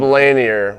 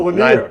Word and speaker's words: Lanier: I've And seen him then Bob Lanier was Bob Lanier. Don't say Lanier.